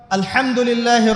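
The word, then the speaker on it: الحمد لله: এই হা এর মাখরাজ কোথায়? হা এর মাখরাজ কোথায় বলেন একজন? কণ্ঠনালীর মাঝখান থেকে। এখান থেকে আপনি উচ্চারণ করছেন আলহামদুলিল্লাহি রাব্বিল আলামিন। অর্থ দাঁড়াচ্ছে সমস্ত প্রশংসা জগৎসমূহের রব আল্লাহর জন্য। ঠিক আছে? কিন্তু আপনি এই হায়ে হুত্তির জায়গায় যদি হায়ে হাওয়াস পড়েন, যার মাখরাজ অন্য জায়গা থেকে, আপনি পড়ছেন ফর এক্সাম্পল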